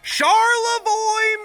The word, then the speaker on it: Charlevoix: Charlevoix, Michigan. I saw it on there. It's in Michigan. They got those French spellings like Detroit. Detroit. That's how you say it in French.